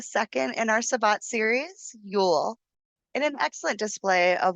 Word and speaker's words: Yule: It's spelled y u l e. But you say it ule like with a double o.